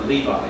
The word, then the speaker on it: Levi: But this time we're going to be looking at Levi, or Levi, you might pronounce it.